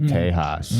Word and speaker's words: Tejas: No, he's just pronouncing it the traditional way. Tejas.